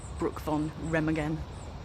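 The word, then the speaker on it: Brücke von Remagen: They call it the Brook von Remagen, that's how you say it, and the Ludendorff Bridge, which, as you can see, no longer exists.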